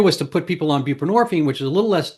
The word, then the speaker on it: buprenorphine: So they thought, oh well, we have this other stuff, buprenorphine, which mind you rhymes with morphine, which is a narcotic itself, but it's a little less dopey than than methanone.